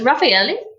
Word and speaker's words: Raffaele: So whilst we're on the subject of pronunciation, how do we actually pronounce your surname? Okay, so it's Raffaele, but when people look at it, and especially